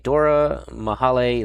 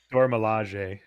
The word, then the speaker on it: Dora Milaje: this correctly, but Okoye, Dora Mahale Leader. I think that's how you say it. It's a Dora Milaje. Dora Milaje. There you go.